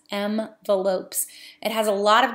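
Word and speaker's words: Mvelopes: can pronounce it right M like the letter M Veloz so not envelopes but m and then ve L ope s m the lopes it has a lot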